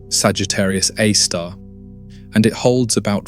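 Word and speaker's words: Sagittarius A*: That black hole is called Sagittarius A, pronounced Sagittarius A star and it holds about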